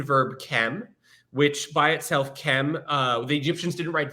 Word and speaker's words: Kem: chem which by itself Kem uh the Egyptians didn't write vowels so when we um are we're saying chem we're assuming a kind of short e between the K and the M but really what we